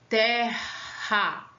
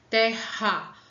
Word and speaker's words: Terra: Que eu vou duplicar a letra R, vou ter aí dois R's, tá? Para dar um som forte. Tipo, nessa imagem aí, eu tenho o planeta Terra.